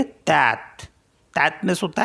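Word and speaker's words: tête: Next है TETE, तो इसको पढ़ेंगे तैत।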